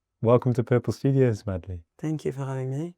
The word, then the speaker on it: Madly: are um so yeah my name is madley like madley in love um oh really madley